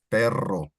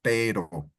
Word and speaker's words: perro: When you say carro, or Mora wrote on the chat, perro, you see there's 2 R's. So it's perro. In David's example, ropa, you see that ropa is not as large as the one in perro, right? Because that's 2 R's instead of 1. And exactly, perro is not the same as pero.